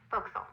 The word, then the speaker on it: forecastle: of a sailing ship, but it's pronounced forecastle. Why's that? Try pronouncing it like an English sailor with no formal education. Forecastle. Forecastle. Over time it whittled down.